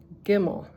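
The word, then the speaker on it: גִּימֶל: Gimel, G, like a G, like the G, that type of G.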